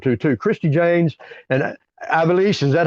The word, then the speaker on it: Ivelisse: Christy James and Ivelisse, is that how she pronounces that, Hannibal? I think that's right. Ivelisse.